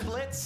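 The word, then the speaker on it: Blitzø: I'm Blitz. The O is silent.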